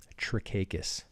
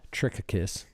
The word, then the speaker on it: Trikakis: for cakis cool that's my last name should pronounce it's trickacus okay um not trick a kiss Siri calls me tricky kiss and uh trichakis and